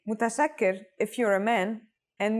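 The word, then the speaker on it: متشكر: you want to thank someone more casually say mutasakir if you're a man and with a shakira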